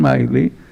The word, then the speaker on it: Milley: Pasó lo mismo con el comandante anterior que se llamaba Miley, se escribe Milley, pero los norteamericanos le dicen Miley y bueno, lo echó.